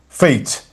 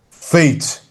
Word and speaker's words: fate: Fat fate. You see? So you don't pronounce the e but e changes the sound of the vowel before it.